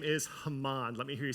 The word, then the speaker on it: Haman: now I grew up saying the name was hmon um if you say hmon that's fine the correct pronunciation though is Haman and he is King aeris's second in command